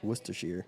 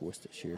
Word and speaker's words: Worcestershire: to Shear sire wish to share your songs Worcestershire wish to share what's the share yeah I don't get that at all no I like it I like Worcestershire sauce yeah Chester sauce Worcestershire or Chester Shire if you're not from New England I feel